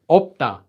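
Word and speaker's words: 없다: So this word is pronounced as opda.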